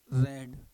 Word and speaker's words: read: सही क्या होगा, हैव रेड. इसका प्रोनाउंसिएशन क्या होता है, रेड. 3 फॉर्म होती हैं रीड की, first, second, third. रीड, रेड और रेड, ये 3 फॉर्म होती हैं, रीड, रेड और रेड.